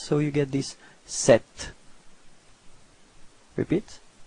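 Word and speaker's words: sept: Okay, so the P between and T is not pronounced, so you get this 7.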